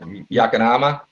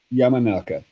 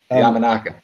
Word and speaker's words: Yamanaka: Was that Yakanama? Is that how you say it? Yamanaka. Yamanaka. Yeah.